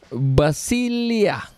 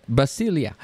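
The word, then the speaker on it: βασιλεία: kingdom kingdom in greek is basil hard to pronounce but basilia okay that's how it's pronounced they said basilia which means kingdoms or sovereignty or political entities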